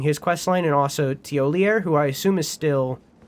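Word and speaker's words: Thiollier: Oh, that's Teolier. Uh, we'll read all that in a second. Or tier, I think it is. I don't think the R is pronounced. I think it's Tier. Okay.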